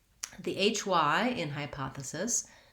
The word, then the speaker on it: hypothesis: the word hypothesis hypothesis that syllable is unstressed and the letter e says the sound schwa which sounds like uh so we have hypotha hypothe and lastly the sis syllable just says cis same as the abbreviation for the word sister it's a lax vowel and we're going to be short and light on it so let's